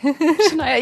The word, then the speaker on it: Shaniah: Because you know not to be Shaniah, yeah, yeah, you would. Yeah, you pronounced it wrong earlier and I didn't correct you.